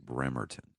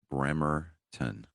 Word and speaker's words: Bremerton: relativ in um Bremington Bremerton Bremerton it is pronounced Bremerton brington Bremerton BR bton Washington I know I used to